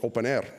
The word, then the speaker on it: openEHR: openEHR, just like FHIR is pronounced FHIR, openEHR is pronounced openEHR, usually openEHR.